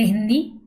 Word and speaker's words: हिंद: जो फारसी भाषा में स ध्वनि का उच्चारण हा से होता है, इसलिए सिंध शब्द को हिंद उच्चारित किया गया।